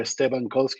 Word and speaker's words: Esteban Kolsky: that soon uh my name is cestabankolski or estebankowski if you want to pronounce it perfectly well uh but I want